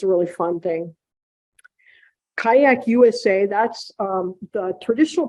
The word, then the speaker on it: Qajaq: in mid-may is something called kayak camp and it's spelled qajaq which is down on